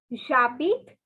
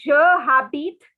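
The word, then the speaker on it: j'habite: place the city's name jabit um one thing to remember it is not ja habit okay it is not habit it is okay just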